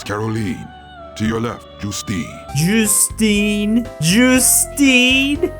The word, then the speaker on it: Justine: Justine.